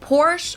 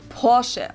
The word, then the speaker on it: Porsche: located in stutgart Germany I've heard Americans pronounce it Porsche or POR in German we say Porche so there's like short a sound in the end por it was founded